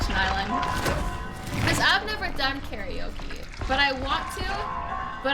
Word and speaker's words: karaoke: And also, isn't it weird that we say it like karaoke when there's no E in it? And it's just not how it's pronounced authentically, but we just say it like that.